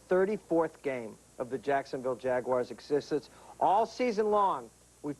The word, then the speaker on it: Jaguar: who have driven one insist the pronunciation be Jaguar Jaguar Jaguar you got to remember